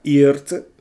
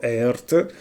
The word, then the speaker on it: EART: Ciao a tutti, questa è la seconda chitarra e che porto sul canale. Mi hanno detto che si pronuncia e io dicevo Earth, non lo so, resta un mistero e la chiameremo e allora questa chitarra, beh,